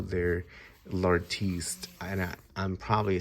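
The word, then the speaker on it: L'Artiste: what they call their lartiste and I I'm probably saying it wrong but it's l apostrophe r artiste with an e at the end like the artist uh so this is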